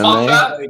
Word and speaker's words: manga: Manga, anime, manga?